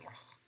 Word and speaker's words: loch: Maybe in some variety, specifically here, it is written Scottish variety, so people are maybe pronouncing that something like loch, loch. So this is voiceless velar fricative.